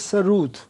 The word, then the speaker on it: sarod: The actual pronunciation is sarud with double O.